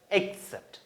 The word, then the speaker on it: accept: pronunciation accept, spelling A-C-C-E-P-T.